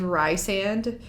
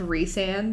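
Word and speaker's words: Rhysand: people that were saying rice and like the die hard a court of thorns and roses fan that knew that it was pronounced re-sand they would just like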